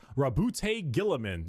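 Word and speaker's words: Roboute Guilliman: Primark Rabbout Gilamin.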